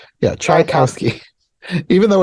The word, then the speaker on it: Tchaikovsky: of it this way, like chai as in chai tea, cow as in Tri-T, the animal, Cow, chai cow ski, like the sport. Trikowski, Yeah, Trikowski, Tchaikovsky, even though it's spelled Trikowski.